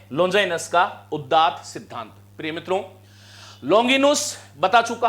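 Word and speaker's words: Longinus: बता दिया कैसी है और अंग्रेजी उच्चारण जो है इसका क्या है बोलो लोंगिनस है क्या है इनका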